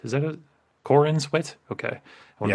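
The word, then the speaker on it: Corenswet: looked at by James Gunn and by David Cornsweet. Is that it? Cornswet.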